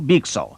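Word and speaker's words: byxor: मैं आपके लिए सही प्रोनाउंस कर रहा हूं, बीक सॉ।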